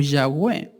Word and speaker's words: Yahweh: o Yahweh.